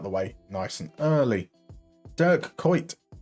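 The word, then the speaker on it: Dirk Kuyt: Durk quite. Durk quite got to be careful with the pronunciation of his name. Um he is most definitely Dutch.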